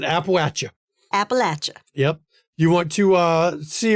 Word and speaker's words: Appalachia: Appalachia, as they like to call it. Appalachia. You got to pronounce it Appalachia.